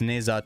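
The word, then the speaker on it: Ne Zha: But the biggest story here is, again, I'm pronouncing it incorrectly. It's Neza 2.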